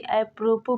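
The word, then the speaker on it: apropos: rule नियम नहीं है इसको अप्रोपो ज नहीं अप्रोपो पढ़ते हैं अगला वर्ड है डबरी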